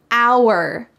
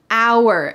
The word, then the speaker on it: hour: done with my hair hour hour notice that the h is silent hour we waited for an